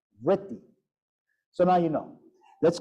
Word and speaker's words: vritti: Like the word vritti. It's V-R with dot, double T-I. I mean, it's vritti. How do you make such a sound?